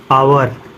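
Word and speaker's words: hour: है क रहा है जब ओ से पहले एच आता है तब एच साइलेंट होता है कभी भी ओ से पहले एच आता है एच साइलेंट होता है जैसे देखो लिखा ऑनर ऑनेस्ट आवर इको जो भी है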